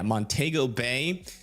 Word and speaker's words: Montego Bay: per hour winds near uh I think that's Montego, is that how you say it? Yeah, Montego Bay up there as well.